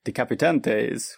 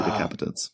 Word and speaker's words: Decapitants: Yeah, although I've been pronouncing it in my head decapitantes, which I was saying decapitantes also until I watched the Kickstarter video. They say decapitants, so yeah.